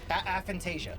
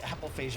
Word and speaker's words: aphantasia: I think we're mispronouncing it, but we're going for the thing where Aphantasia. aphantasia. Yeah, you said apophasia.